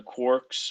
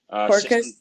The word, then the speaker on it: Quarkus: The Quarks, or I forget how you say it, but Quarks. Quarkus. Yeah. Quarkus, yes.